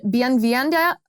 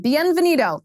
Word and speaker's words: Bienvenido: that explains this phenomenon it's called bienvende oh butchered that word bien venito in action bienvenido in action it's a it's an